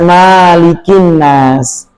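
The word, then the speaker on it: مَلِكِ النَّاسِ: Jadi bunyinya malikinas, malikinas. Enggak ada bacaan qulzubirabbinas malikinas. Mimnya enggak boleh panjang sama sekali. Tidak ada riwayat satuun dari Nabi sallallahu alaihi wasallam yang memanjangkan mim dikata Malikinnas enggak ada langsung pendek Malikinas.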